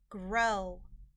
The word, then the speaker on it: grow: an e sound any grow the o w in this word is not making the owl sound but it's making an o sound because the o w